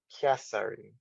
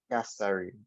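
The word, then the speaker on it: キャサリン: So one thing to remember is even though the word looks very funny to you, it is going to be pronounced almost close to the original word. So Catherine, Catherine. Kasarin.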